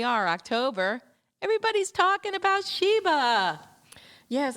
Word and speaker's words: Shiba: Spell it. And you spelled it for me. Sh H I B A. I'm like Sheba.